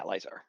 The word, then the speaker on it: Lizar: Yeah, Lizar. Okay, yeah. Mispronounce the word laser and you got it.